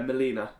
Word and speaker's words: Molina: The Argentina right back, I can't pronounce his name. Molina? Yeah, Molina.